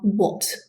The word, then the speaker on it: what: These words are what. So it's spelt with an A but sounds like an O.